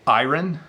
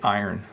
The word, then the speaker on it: iron: iron your clothes ok sometimes people say ayran like the Airen they're closed that is the the probably more formal pronunciation but I say iron iron so I sometimes my